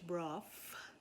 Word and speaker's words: broth: say in trinidad fish broth it's spelled b-r-o-t-h but we pronounce it b-r-o-f-f i have no idea